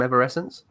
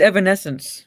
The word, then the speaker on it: Evanescence: was entirely chick from ever essence yeah yeah by the actual chick by the band's code no yeah I know but you're saying it wrong yeah it's Evanescence it's my accents don't